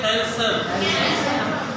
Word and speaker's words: handsome: Handsome means deep. Deep is not silent. Here we say handsome.